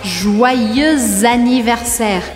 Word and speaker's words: Joyeux anniversaire: E aqui eu vou falar Joyeux anniversaire. Eu faço a liaison entre o X de joyeux e o A de anniversaire. Ou seja, que eu grudo a pronúncia das duas palavras.